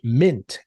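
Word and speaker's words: Mynt: in brazil btg pack actual uh has launched mint which is spelled m-y-n-t a new exchange for bitcoin and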